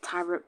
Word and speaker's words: Tyrop: It's pronounced Tyrop, by the way.